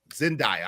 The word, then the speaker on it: Zenia: the number thing is you said Zena right Zena is 27 years old I I hate to interrupt but zen zen zen zen zen please okay okay Zenia I'm I'mma pronounce like you Zenia is 27 years